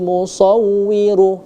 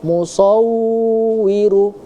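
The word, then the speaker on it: الْمُصَوِّرُ: Harusnya huwallahul kholiqul bariul mushawwiru. Nah, di sini ada huruf wau yang dia bertasydid ya. Huruf wau yang dia bertasydid. Jangan terlalu berlama-lama di situ, ya. Tadi terdengar mushawiru, ya.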